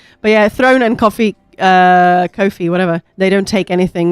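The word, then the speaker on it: Ko-fi: No, it is pronounced Kofi.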